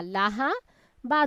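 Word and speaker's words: لهب: তাই এখানে পড়তে হবে লাহাব, লাম জবর লা, লাহাব। হা জবর হা, বা দুই জের বিন আমরা পড়লাম, বানান ঠিক আছে। উচ্চারণের ক্ষেত্রে কি করব? লাহাব।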